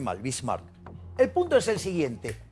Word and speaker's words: Bismarck: Lo pronuncié mal, Bismarck.